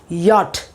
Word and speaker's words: yacht: This is the correct pronunciation, yacht.